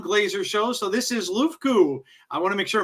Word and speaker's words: LUFKU: So this is LUFKU. I want to make sure I'm pronouncing that right.